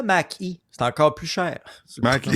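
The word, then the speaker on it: Mach-E: Prononce-le Mac-E.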